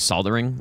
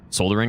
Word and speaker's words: soldering: I don't know which one's correct, but I'm going to go I'm going to go ahead and say that the one that doesn't have the silent L is correct. But they're both tech technically correct though. Like it just makes more sense to to say the L, you know?